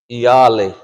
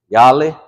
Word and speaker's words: iyali: when you say it, it's almost like iyali, iyali. Like I said, don't write it like that because we're always gonna write it like that. But that's kind of how you pronounce it, iyali, iyali. And sometimes you might hear speakers say yali, yali. So they might take that I off and say yali.